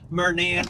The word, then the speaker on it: Murnan: I'm kidding. Murnan, for those of you that were wondering how it's pronounced.